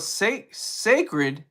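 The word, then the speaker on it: Cécred: But she has she has another brand called Sacred. It's pronounced C-E with the accent mark, C-R-E-D, the hair care brand.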